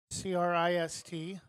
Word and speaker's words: Kreist: It will be Eli Kreist batting for Eugene with 2 outs. Throw to first. Spelled like Christ minus the H. Christ.